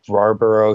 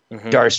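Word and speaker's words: D'Arce: He's a Dana White Contender Series winner by Barber choke, or I believe that's how you say it. Darce choke. It was a variety of the Darce, Yeah, variety of the Darce.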